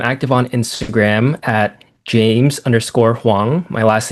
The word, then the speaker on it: Hwang: Yeah, the best place for me, I'm active on Instagram at james hang. My last name is spelled hw.